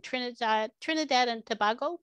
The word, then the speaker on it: Trinidad and Tobago: I know Phoenix you may not know, she's in Trinidad and Tobago. That's how you pronounce it?